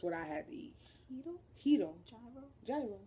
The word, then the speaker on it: gyro: Gyro. Gyro is how we say it in America. Gyro. Anybody out there that's Greek, teach us the right way to say that. And tzatziki sauce is tzatziki sauce.